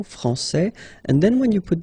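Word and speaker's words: français: rule electrons okay so francais here you get this final s that you don't pronounce so francais and then when you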